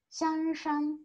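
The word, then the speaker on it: 香山: 北京に香りの山と書いてシャンシャンという山があります。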